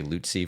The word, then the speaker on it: Lutze: Most people can't say looty for some reason or at least on the first try.